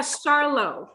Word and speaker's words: Charlot: a little bit uh charlo like charlotte oh lord have mercy